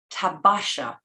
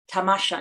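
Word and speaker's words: تماشا: touching letter, using both the mispronounced word of Hussein Effendi tabasha and the proper word tamasha in Persian, meaning sightseeing, in this tablet.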